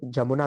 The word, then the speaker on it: यमुना: बट हमारा जो Bhojpuri language है, अवधी लैंग्वेज है, यहाँ पे य को ज भी बोलते हैं, इसलिए कई बार हम लोग, हाँ। मोस्टली लोग जमुना भी प्रोनाउंसिएट करते हैं यूपी बिहार में।